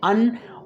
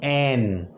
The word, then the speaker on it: an: ऐसे ही एन को pronounce spoken में भी स्पीकिंग में भी हम इसे बोलते हैं अन और स्ट्रांग एन।